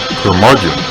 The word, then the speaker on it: curmudgeon: the curmudgeon rock report curmudgeon rhymes with bludgeon rock gods do it